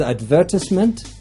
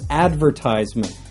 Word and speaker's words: advertisement: Another example is advertisement, which you will find in some regions of the United States and Canada, and advertisement.